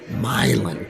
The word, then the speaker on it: Milan: yeah yeah no it it is mland MIL okay mil Tennessee is how you pronounce it yeah and I think